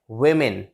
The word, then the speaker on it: women: जब single वुमेन होगी, जब सिंगल औरत होगी तो हम उसे प्रोनाउंस करेंगे वुमेन, वुमेन। लेकिन जब हम इसको प्लूरल फॉर्म में बोलेंगे, एक से ज़्यादा के लिए बोलेंगे, तो हम यूज़ करेंगे जो वर्ड वो होता है women, women, नॉट वुमेन।